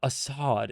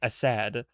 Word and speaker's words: Assad: So it's not Assad. It's supposed to be Assad. Assad, like Assad. Like more like an A instead of Oz, it's like as Assad, evidently.